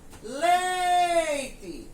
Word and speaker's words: leite: Então, no caso da palavra leite, se eu fosse gritar a palavra leite, eu iria gritar leite. Então, eu demorei mais na primeira sílaba, não foi? Então, ela não é uma palavra oxítona. Consequentemente, ela é escrita com E, mas tem o som de I.